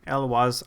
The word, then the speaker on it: Eloise: Ladies and gentlemen, Capital G here bringing you Eloise Nephalia Sleuth. I say Eloise because it can't be Eloise. Louise is spelled with a U. There's no U, so Eloise it is.